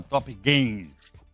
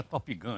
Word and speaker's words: Top Gain: Muito grato ao Bruno Cotrim, que é economista da Casa de Análise, chama Top Gain. Esse Gain aí se escreve G-A-I-N, não é Top Gun ainda o nome do filme, é Top Gain.